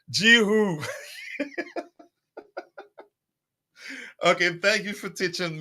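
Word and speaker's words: Guiu: You get a yellow card for pronouncing gooey as though it's a piece of it's Jihu.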